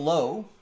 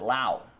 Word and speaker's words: Lowe: There's Nathaniel Lowe. He pronounces it low. Brandon pronounces it Lau. They're on the same team.